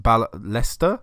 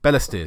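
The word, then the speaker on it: Balestier: my phone here because it's not pronounced how I been pronouncing it I've got a list up of locations in Singapore bear Leicester Bella steer sorry there you go I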